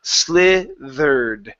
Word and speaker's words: slithered: So, instead of saying slithered, okay, so with an E sound, use a short I. Watch the D after the TH. That caused you to pronounce a Spanish D at the end.